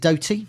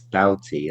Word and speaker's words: Doughty: And Yeah, you've got these wing backs in Drama and now is it Doty? Do I pronounce it? it's Doughty, I think.